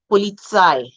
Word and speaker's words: Polizei: When you see EI, you sound it like I. Polizei, mine, dein, sein.